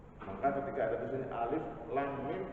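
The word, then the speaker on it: الم: maka ketika ada kejadian alif.lam.mim tidak dibaca alamat bacanya Bapak Alif Lam Mim sekarang Terus nyetok sahabatnya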